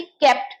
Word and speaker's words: kept: अब क्योंकि मैं बहुत सालों से पढ़ा रही हूँ, मुझे पता है कुछ लोग इसके प्रोनाउंसिएशन को लेके कंफ्यूज होते हैं। इसको केप्ट मत बोलिएगा, ये केप्ट होता है।